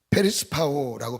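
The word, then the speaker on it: περισπάω: 페리스파오라고 발음하는 헬라오인데요.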